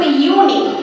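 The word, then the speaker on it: unique: যখন আমরা ইউনিক pronunciation করছি তখন কিন্তু আর ইউ উচ্চারণ হচ্ছে না, সেটা কি হচ্ছে ইউনিক, অর্থাৎ ওয়াই, ওয়াই এর প্রনাউন্সিয়েশন আসছে। তাহলে মানে ওয়াই এর প্রনাউন্সিয়েশন আসলে সেটা হলো কনসোনেন্ট সাউন্ড, আর কনসোনেন্ট সাউন্ড হলে এন কিন্তু হয় না।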